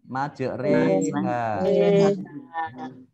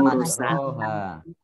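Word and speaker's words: مجراها: Ini tulisannya majroha. Tapi bacanya majreha. Ini ya. Majreha. Itu dalam Al-Qur'an surat Hud ya, ayat 41. Ini yang doa perjalanan itu ya. Ini dibacanya majreha. Tidak majroha.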